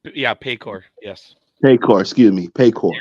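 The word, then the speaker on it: Paycor: of four and three they'll be playing at mayor Stadium if I'm pronouncing it right it's yeah payor yes payor excuse me payor you're all right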